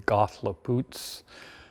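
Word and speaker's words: Cathlapotle: We decided to film at this location here in Ridgefield, Washington at the Kathleopootl Plank House. Actually, the old pronunciation would be Gothlepoots.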